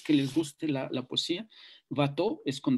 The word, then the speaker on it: Watteau: Aquellos que les guste la poesía, Watteau es con W, se escribe Guateau, que se llama Embarque a Citerea.